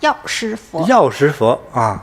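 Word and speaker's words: 药师佛: The word is pronounced "Yao Shi Fo This is the meaning of Medicine Buddha.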